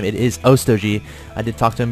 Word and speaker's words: Otog: We do have another queen down at Og's National as well as in his main and that is how you pronounce his name. It is Otog.